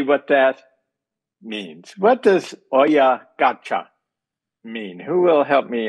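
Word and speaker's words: 親ガチャ: about, a Japanese phrase, oya gaka. I may not be pronouncing it well. Oya gaka. Dr. Ito, am I pronouncing that right, or perhaps you should pronounce it for me? Right, it's oya gacha.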